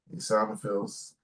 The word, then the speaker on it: eosinophils: Eosinophils. Eosinophils. I said it right? Yes.